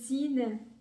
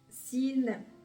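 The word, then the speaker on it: سين: alors dites-moi qu'est-ce que vous pensez de s sine sine c'est facile à le prononcer essayz quand même c'est pas trop compliqué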